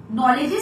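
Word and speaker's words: knowledge: তো লিখতে গিয়ে আমার নলেজের স্পেলিং হচ্ছে কে এন ও ডবলিউ এডি নলেজ সেখানেডিটা সাইলেন্ট থাকে ডিটা মিস হয়ে গেছে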